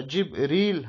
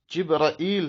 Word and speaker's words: جبريل: دا د جبريل تلفظ په جبريل هم کېدلی سي، جبرائیل هم کېدلی سي، جبرائیل هم کېدلی سي.